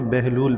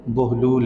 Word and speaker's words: بہلول: کو بہلول کہتے ہیں، ہماری اردو زبان میں بہلول پڑھا جاتا ہے۔ اردو میں مشہور و معروف یہی ہے، تو میں بھی بہلول ہی کہہ رہا ہوں۔ عربی میں اصل میں درست تلفظ جو ہے اس کا وہ بہلول ہے۔ حضرت بہلول دانا رحمۃ